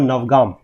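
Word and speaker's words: Navagam: Number 7 में आप बनाएंगे, that will be your नवगाम। ठीक है, इसकी स्पेलिंग आप देखेंगे तो NAVA भी आपको लिखी हुई दिखेगी।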